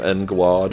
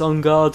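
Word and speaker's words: En Garde: I just called them En Guard. Yeah, I had no idea, and then I've got older and oh, it's On Guard who's swordfish.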